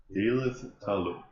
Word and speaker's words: Då'Lith Ta'Alum: So his name is pronounced Då'Lith Ta'Alum. Då'Lith Ta'Alum.